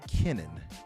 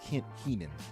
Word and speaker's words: Kenan: And you said it's Project Kenan, not Keenan, right? Kenan. Yeah. And the latest article is just what So mentioned. Kenan. Kenan. It even looks, the way it's spelled, looks like it's Keenan still, but it's Kenan.